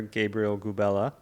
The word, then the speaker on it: Gabriel Gubela: I've got a very special guest with me, a Brazilian national team player, Gabriel Gubela. I pronounced it right?